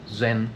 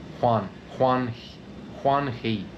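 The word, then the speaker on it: Zheng He: The guy who was head commander of the Chinese treasure fleet, his name was, it's spelt Z-H-E-N, but it's not pronounced Zen. It's like Huan He.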